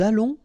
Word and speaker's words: allons: Nous allons, remember final S not pronounced. O and together it's on, and then we'll make this little link between the two, what we call the liaison. Nous allons.